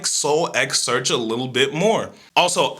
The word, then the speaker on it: SoulxSearch: So I'm gonna pronounce the X in SoulxSearch.